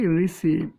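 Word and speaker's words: receive: তে ব ইউ ইউজ করবো লাস্টে ই আছে উচ্চারণ দিব না তাহলে রিসিভ ইউজ করবো তাহলে শব্দটা হচ্ছে কি রিসিভ একটু খেয়াল করে দেখবে তারপর এখানে যদি একটু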